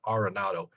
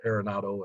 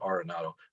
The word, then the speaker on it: Arenado: to all learn that he says the correct pronunciation is arenado he's been pronounced aronado and i'm probably guilty of that as anybody but i'm going to try my best to always pronounce it arenado which is how he said he is the